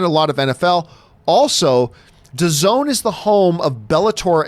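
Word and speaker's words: DAZN: Netflix because the selection is better 2019 Americans used VPN to hack into Canadian to zone because of NFL yep the zone and to zone and that's how it's I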